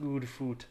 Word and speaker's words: Goodfoot: It's pronounced good food.